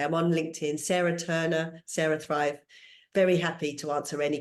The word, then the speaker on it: CeraThrive: Yeah, so it's CeraThrive, like you say, it's spelt like the brain way. So it's CERA, CeraThrive, like cerebellum or cerebral.